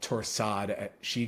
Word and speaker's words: torsades: Yeah, most people just call it torsade or torsade de point. Yeah, some people even pronounce the S at the end and say torsades.